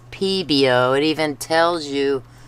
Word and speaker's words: Pebeo: the longest time I thought this was pronounced peo but it's peo it even tells you